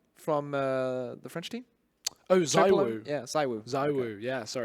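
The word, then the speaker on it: ZywOo: Saivo. Who? Suvo from the French team. Oh, Zaiwu.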